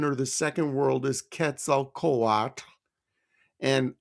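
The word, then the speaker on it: Quetzalcoatl: the second world is ketal koat and I'm pronouncing it like the the Aztecs would people often call him Quetzel Quaddle. Okay, the feathered serpent god. Ketzel Kawat was the second sun ruler.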